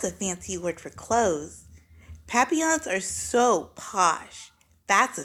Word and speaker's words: Papillon: hope we get a Papillon like our neighbor's dog you say it like this Papillon in French it means butterfly I